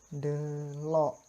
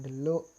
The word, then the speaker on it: delok: Delok, bukan deluk atau deluk, malah keliru nggih.